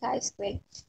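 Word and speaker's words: chi-square: graduated from statistic class you know how to pronounce it it should be chi square okay so we have to for the goodness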